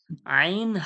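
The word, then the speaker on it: ع: আর কণ্ঠনলীর মাঝখান থেকে আইন হা।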